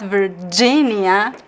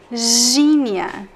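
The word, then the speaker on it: Virgínia: It's not Virginia. Wanna try it before I say it? It's Virginia. J, because the G in Portuguese is pronounced as a continuous sound. Z. If you can pronounce for a long time, you're doing it right.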